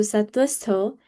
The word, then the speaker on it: sattvastho: So you don't pronounce the V there. The V is silent. So it would be Sattva. The V would make a W sound. So Sattvastho. And then the next part, Niryogakshema Atmavan.